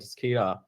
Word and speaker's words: Tascara: My name is Sharma, co-founder, CEO, company called Tascara. We pronounce Tascara, and been in cyber for about